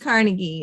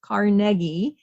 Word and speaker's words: Carnegie: It's not pronounced Carnegie. It's Carnegie.